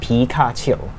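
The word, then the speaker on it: 皮卡丘: But then recently, 3 years ago, they decided to change it to the Mandarin pronunciation, which is Pikachu.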